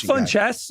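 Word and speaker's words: Funchess: Is it fun? I'm not pronouncing. It is fun chess, but like we don't have to abide by that when he's not even in the league.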